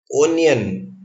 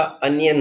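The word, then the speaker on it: onion: serial number 1138 में उन्नयन इसका उच्चारण नहीं होता अनियन होता है जो मैं तीसरी आशा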